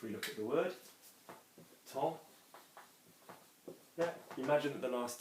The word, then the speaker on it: temps: Remember, we say T-E-M, and you're not going to hear the P, you're not going to hear the S, because there is no E after it.